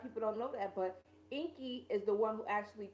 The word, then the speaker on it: Enki: No, Inky, it's spelled Enki. Inky.